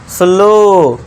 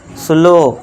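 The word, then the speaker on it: slow: जब वर्ड के लास्ट में ओ डब्ल्यू आए तो ओ डब्ल्यू को फिर से क्या पढ़ना है आपको? ओ से पढ़ना है। तो इसे क्या पढ़ेंगे? सुनो स्लो फुलो देखिए आधा स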